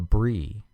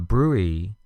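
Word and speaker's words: bruit: trachea next we have a BRI b r UI t a brewey is an abnormal artery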